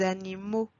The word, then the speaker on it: animaux: Again here, we do not pronounce the letter X at the end. It sounds more like O. Des journaux, des chevaux, des animaux.